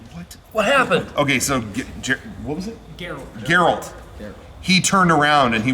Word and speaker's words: Geralt: not play The Witcher yeah Gerald gerald girl Geralt this isn't a trick is it is that